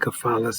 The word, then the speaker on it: Cephalus: I mean, C-E-P-H, but I learned it was a hard C in cephalus, but whatever, you know what I'm talking about.